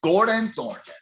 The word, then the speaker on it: Gordon Thornton: me it's pleasure pleasure i love how you say my name too it's a good one gordon thornton i like that stronger you're gonna have the emphasis man you know yeah